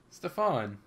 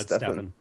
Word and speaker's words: Stefen: I had to say Stefan hold okay before I feel like I'm pronouncing your name wrong is it right am I saying it right no it's stepan oh Stephan sorry I feel